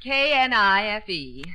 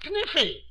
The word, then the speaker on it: knife: Class, I will spell the word K-N-I-F-E. That's Kniffy. No, the word is knife. K is the silent letter. K is always silent in front of N.